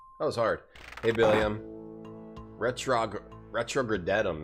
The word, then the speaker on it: RetrogradeTom: Retrogradetum, it's pronounced, Dr.